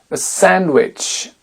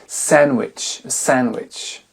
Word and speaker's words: sandwich: Wednesday ça ça s'écrit bien Wednesday ça se prononce Wednesday sandwich sandwich un mouchoir ditchch pour aller plus vite hanky